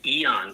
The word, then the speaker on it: Aeon: Another one that is one of the top favorites of everybody is called the Eon patch, and that's spelled AEON.